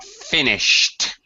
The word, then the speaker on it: finished: where we add ed the ED past tense pronunciation behind an unvoiced sound is teed finished finished and washed